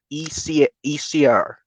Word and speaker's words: Esau: His name is Esir, basically. That's how it's pronounced.